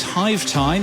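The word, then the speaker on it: Hyve Time: And in podcast news, Hive Time, that's spelled Hyve, Hive Time is a brand new podcast all about the business of beekeeping.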